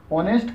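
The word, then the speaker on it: honest: इसी प्रकार से ऑनेस्ट का भी पूछा जाता है कि ऑनेस्ट में साइलेंट लेटर क्या है, तो यहाँ पर एच जो है साइलेंट लेटर हो जाएगा।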